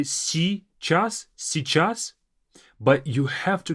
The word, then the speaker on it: сейчас: Сейчас means now. A very difficult part of this word is this si beginning. Сейчас. Сейчас. You can just simply say сейчас, сейчас, but you have to kind of add this little y there.